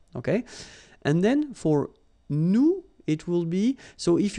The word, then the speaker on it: nous: if you remember correctly, so final S is not pronounced here. Okay, and then this O-N, so it's a nasal and it goes in your nose and it goes like on. All right, so you don't hear any N, so it's really on.